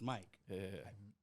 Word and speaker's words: MyQ: a conversation starter yeah nobody knows how to pronounce my name that's why like if you see in my Ig I got to put in parentheses pronounced Mike and people still people still call me my like you know what